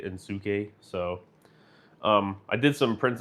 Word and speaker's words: Inosuke: It's not Inosuke. It's actually Insuke.